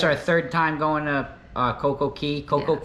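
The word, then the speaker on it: CocoCay: That's our third time going to Coco Key. Coco Yes. K. I understand it's kind of pronounced both ways. Yeah. I think it's supposed to be Key, but Coco K kind of sounds cool too.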